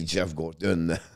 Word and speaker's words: Geoff Gorton: And the one who's going to write the chapter is going to be Geoff Gorton.